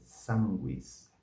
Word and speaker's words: sanguis: T teólogos teólogos teólogos o u é pronunciado assim essa palavra é sanguis sanguis sanguis depois o